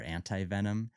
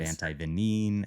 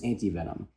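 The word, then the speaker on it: antivenom: So, two of them are acceptable. You know, antivenen is what was originally used because it was derived from the French. And then antivenenom is what is preferred. According to the World Health Organization, in English-speaking countries, the preferred term is antivenenom.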